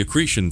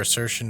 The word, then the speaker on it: accretion: Like the accretion theory or assertion or whichever. It's way accretion. you pronounce. I was saying it wrong.